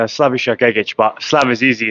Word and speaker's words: Slavisa Gegic: delighted to be here with the Serbian Sledgehammer slavisa git did I pronounce that right so close it's slavish git but slav is easy it's hard for everyone